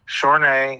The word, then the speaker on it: Chorn'e: facebook uh again my my last name is a french name it has an accent over the east it's pronounced shorenae c-h-or n-e um if you can't